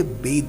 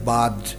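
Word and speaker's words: bathed: वो कैसे सनलाइट से बेद कर रहे हैं। देखो, बहुत सारे लोग इस वर्ड को गलत प्रोनाउंस करते हैं और पढ़ते हैं बाद या फिर something else, but द correct pronunciation is बेद।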